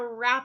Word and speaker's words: wrap: to wrap a present do I say I'm going to war wrap a present I don't because that W is silent and you just hear the R sound when you have a WR together you just hear the earth sound and that W falls silent okay now you'll sometimes